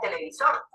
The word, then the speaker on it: televisor: Poníamos en el caso anterior la palabra televisor. Es una palabra aguda porque lleva el acento en la última sílaba.